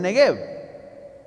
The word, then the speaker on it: Negev: ¿Qué son los arroyos del Negev? Gracias por preguntar. Como pueden ver en el mapa moderno de Israel que está en pantalla, el desierto de, como se pronuncia en hebreo, Negev, se encuentra en el sur.